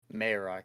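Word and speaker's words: Marrok: to correct myself actually I think we both got it wrong there it's a combination of what we said I believe it's maroc mayorock okay yeah I think that's how it's pronounced it's like there's like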